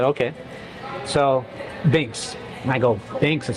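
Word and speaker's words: Binx: So, Bynx.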